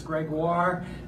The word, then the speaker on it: Gregoire: We have Lucas Gregoire. Thanks, Jill. That's a shout out to Jill with that pronunciation there. Almost like Jaguar, but yeah.